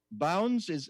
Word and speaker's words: Bounds: Let's go to Bounds. Are you there? Yeah, good morning. Hi. Did I pronounce it right? Is it Bounds? It's bounds, like out of bounds.